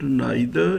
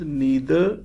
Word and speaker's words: neither: In England, we produce it neither, neither, either. But in America, it is pronounced as neither, either. In England, in British English, it is neither, just like either. But in America, it is neither like either.